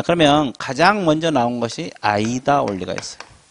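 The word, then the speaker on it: AIDA: 자, 그러면 가장 먼저 나온 것이 아이다 원리가 있어요. A-I-D-A. 이걸 읽을 때 아이다라고 읽어요. 자, 그러면 아이다란 뜻이 뭐예요?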